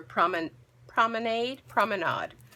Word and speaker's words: Promenade: This is Petal Promenade, or Promenade. Well, let's go with aid because it rhymes with made, and we like to make things.